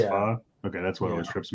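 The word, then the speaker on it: phở: it fa okay spelled Fox right but it's pronounced fa okay that's what always trips me up anyway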